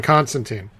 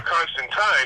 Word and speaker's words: Constantine: with a line like "Tine rhymes with wine," that sort of thing.